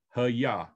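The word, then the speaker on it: היה: It's Hey, Yod, Hey, Ha-Yah. Okay, and this is basically how it's phonetically sounds.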